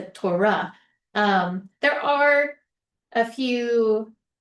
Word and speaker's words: Torah: Um, also the accent is likely on the the last syllable. Um, so tora yada. So a lot of people will say uh that people read the Torah. It's not the Torah. You're not spitting it out. It's the Torah.